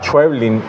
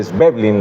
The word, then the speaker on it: Schweblin: María Fernanda Ampuero y recientemente se me olvidó Samantha Schweblin o Schweblin, la pronuncian otros.